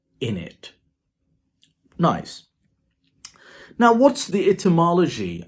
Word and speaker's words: innit: in this one so instead of isn't it it became is in it so the white tip is dropped so it became isn't it then it developed into this pronunciation it is not the test sound only but now it is the Zef sound as well so it became what we know as in it nice now what's the